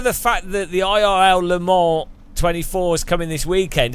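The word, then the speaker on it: Le Mans: fact that the IRL Lamar 24 is coming this weekend any chance you could pre please start pronouncing it Lon are you the S is right right he can bug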